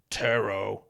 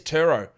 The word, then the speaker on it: Turo: These notes on this ad said Turo is pronounced T-E-R-R. Turo. So I have to say it in an American accent. If I say it in an Australian accent, here's Turo.